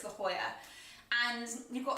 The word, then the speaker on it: La Jolla: went to the area is it La Jolla is that how you pronounce it it smell like La Jolla but I'm pretty sure it's the Hoya and you've got like